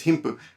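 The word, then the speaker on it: 貧富: us as wealth and poverty and it says him puh if you break down the kanji right team is often pronounced him or being or my sushi which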